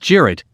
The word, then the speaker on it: cirit: traditional turkish horseback game cirit pronounced jarrett where two teams of